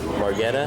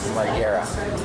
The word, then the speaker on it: Margera: We have Bam Margetta. How do you say it? Margera.